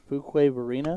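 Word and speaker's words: Fuquay-Varina: on Alex Spellman from a City I can't pronounce in North Carolina that's Fuquay Varina Fuquay Varina yep perfect and every time I'm I'm wrong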